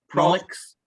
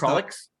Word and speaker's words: Prolix: So the new show is called Comix, Prolix. No, it's Prolix. Oh, okay. Should we start this whole thing again? No, it's going well. Excellent. All right. So the first word is Prolix then.